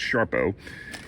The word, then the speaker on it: Sarpo: But as I said, got a bag of russets here, got some Sharpomira, spelled Sarpo, but pronounced Sharpo, and a couple of white potatoes.